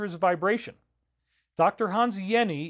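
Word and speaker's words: Jenny: a vibration Dr Hans Yenni even though it's a j it's pronounced like a y he studied geometry and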